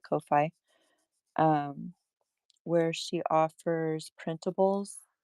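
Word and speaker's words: Ko-fi: She has a Kofi account or coffee, however you want to pronounce it. I call it Kofi.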